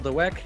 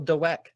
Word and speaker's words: Dweck: Explain to us what some key concepts in Mindset by Miss Carol Dweck. Well, I think it's Dweck, but that's what I said. You're overpronouncing the W. It's not Dweck.